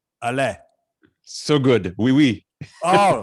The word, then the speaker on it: Alain: that I'm going to really try hard to pronounce. Alain.